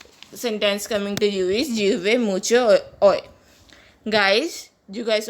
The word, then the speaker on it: llueve: Our next sentence coming to you is llueve mucho hoy. Guys, you guys already know double L is pronounced as J. In Spanish, it is pronounced as llueve, which means raining in Spanish.